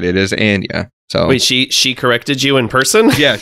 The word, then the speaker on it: Anya: the actress herself I keep wanting to say Anya but it is not it is Ania so wait she she corrected you in person